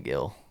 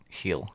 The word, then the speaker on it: Gil: Brian Gill with Tottenham. I don't think. Heel. Yeah. I call him Gill. We're gonna call him Gill from now on. Yeah, we're English. Yeah, Gill. We mispronounce.